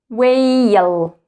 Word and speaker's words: whale: Now, actually, we don't read or we don't pronounce the letter H here. The first letter is W. W. W. Let's read it together. Whale.